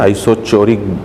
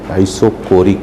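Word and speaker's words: isochoric: अब इसमें हम डेफिनेशन नहीं लिखेंगे, आइसो कई बार इसे स्टूडेंट है ना आइसोचोरिक पढ़ देता है, चोर नहीं है बेटा, ये आइसोकोरिक है प्रोनाउंसिएशन, ठीक है ना।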